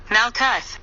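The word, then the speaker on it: מלכות: Hebrew word for kingdom Malka the U is pronounced is in the word book for with the same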